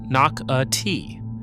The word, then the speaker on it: Nocatee: Number 4, Nocatee. In St. Johns County. Say it correctly, Knock-a-Tee.